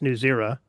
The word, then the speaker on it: Newzerror: What's the story behind the name New It's pronounced New Zera.